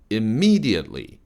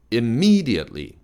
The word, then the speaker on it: immediately: 그 다음에 immediately, me를 좀 왕창 띄워주세요. immediately, immediately.